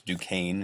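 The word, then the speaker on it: Duquesne: fired very first shots at that fort Force Duane is how you say that uh he lost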